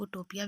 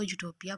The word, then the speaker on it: utopia: ये जो वर्ड है यूटोपिया, इसको कुछ लोग उटोपिया भी पढ़ते हैं, लेकिन अगर हम लोग इसकी करेक्ट प्रोनाउंसिएशन देखें तो ब्रिटिश प्रोनाउंसिएशन में इसको यूटोपिया पढ़ते हैं।